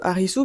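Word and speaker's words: アリス: Du coup, c'est l'équivalent de Harisu, puisque Harisu, c'est la prononciation japonaise de Alice.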